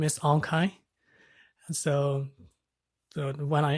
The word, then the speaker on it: Aung Khaing: names are quite unique and quite difficult to pronounce so my name is ankai and so the one i introduced to like